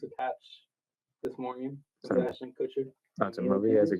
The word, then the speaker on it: Ashton Kutcher: He said Ashton Kutcher, Ashley Kutcher, and then Ashton- Ashton Cushion. Ashton Kutcher.